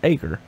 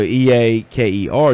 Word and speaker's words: Eaker: if you leave Cherryville, no one in the world knows how to pronounce acre. So E-A-K-E-R, you go anywhere in the world, even go to Bessemer City, go 5 miles down the road, they'll think it's Eaker.